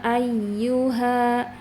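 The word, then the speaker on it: أيها: Jadi harus ada naber. Naber itu suara ditekan agar suaranya itu lebih tinggi dari dibanding suara huruf yang lain. Jadi bacanya ya ayyuha ya ayyu ayyuha.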